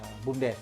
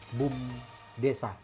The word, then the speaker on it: BUM Desa: teman-teman ataupun masyarakat ataupun kita selalu menyebutnya BUMDes gitu kan. Jadi pada dasarnya ini soal pelafalan sebenarnya. Nah, kalau di Undang-Undang Desa itu dia Badan Usaha Milik Desa. Jadi singkatannya BUMDesa. Jadi BUM Desa.